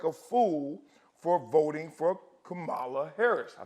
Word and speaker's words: Kamala: he feels like a fool for voting for Camala Harris I said it right right comma KLA Harris comma Harris Miss Harris again Miss Harris